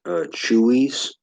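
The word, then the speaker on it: Chuy's: Have y'all ever eaten at a place called Chewy's? I think it's spelled Chueys, and they have burritos and a lot of Mexican food.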